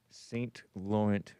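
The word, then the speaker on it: Saint-Laurent: And s is with the saint pronounced sort of son. The t is silent and Lauren is Lauren.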